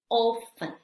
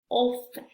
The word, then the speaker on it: often: Ahora, la letra T. Listen, listen, soften, soften, castle, castle, often, often, 20, 20. Y miren, estas últimas dos, muchas personas, perdón, muchas personas sí pronuncian la T. En estas dos realmente es opcional, pero la mayoría de las personas, sobre todo en el acento americano, en la pronunciación americana, perdón, no se pronuncia.